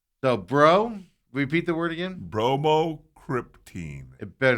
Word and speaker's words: bromocriptine: Bromocriptine. It better not be a silent E in here. BROMO. Repeat the word. Cryptine. CRYPTINE. Bromocriptine.